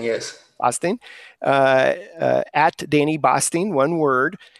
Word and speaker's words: Basting: It's at Danny Basting, if I'm pronouncing that correctly. Boston. I want to say Basting, yes. Basting.